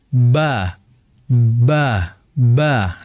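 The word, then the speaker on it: ب: Mim dan ba itu pengucapannya dengan cara bintibaq syafatain. Intibaq ya. atau bisa kita bahasakan dengan menempelkan atau merapatkan bibir atas dengan bibir bawah sehingga dibaca ba ba.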